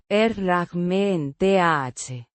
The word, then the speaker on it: herramienta: Herramienta. Herramienta. Means, tool, or instrument. Pronounced. Er-rah-mee-en-tah. With the stress on the second syllable.